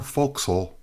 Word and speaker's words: forecastle: Away forward, I remember the ship's bell under the break of the forecastle, or forecastle as it is pronounced in nautical fashion, was just striking 2 bells in the first day watch.